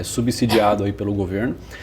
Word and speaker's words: subsidiado: E isso também é subsidiado ou subsidiado né muitas pessoas falaram para eu parar de pronunciar com som de z beleza é subsidiado aí pelo governo e